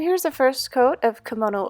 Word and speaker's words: Kimono: the first coat of kimono over I said Camino earlier but I said it wrong anyway it's very nice